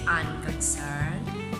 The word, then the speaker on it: unconcerned: The sample word for this is unconcerned. Unconcerned. So the stress is found in the last syllable. Sir. You don't say unconcerned. You don't say unconcerned. It's unconcerned. 3rd syllable, that's the stress.